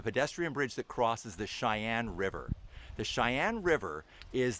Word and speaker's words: Sheyenne: and by the way Cheyenne is not spelled the way you probably think it's spelled uh we're all familiar with c-h-e-y in North Dakota Cheyenne is spelled with an s s-h-e-y-e-n-n-e but the Cheyenne River